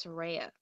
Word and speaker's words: Tera: my name is pronounced my name is pronounced Tera Tera okay oh go I